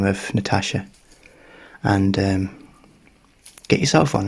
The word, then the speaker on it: Natasja: I think it's spelled it's a Natasha like a Natasha name you know n-a-t